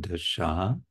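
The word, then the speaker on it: দশা: And we mentioned last time the word dasha with a long A at the end means condition or sort of position or platform, level of consciousness, perhaps.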